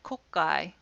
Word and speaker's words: kokkai: is pronounced Kata it's not pronounced katsda it's pronounced Kata and this becomes in romanization k-a-t-t-a or this word kokkai is k-o-k-k-a-i but when that small precedes a